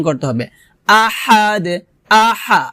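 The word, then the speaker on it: أحد: দিয়ে উচ্চারণ করতে হবে আহাদ আহা হা আহাদ লাস্টে কলকলা করতে হবে কুলহু আল্লাহু আহাদ আহাদ আহাদ এটা হবে না হবে আহাদ কলকলা কলকলা হবে লাস্টে দাল কলকলা হরফ এজন্য আমাদের কলকলা করতে হবে আবার বলি কুলহু আহাদ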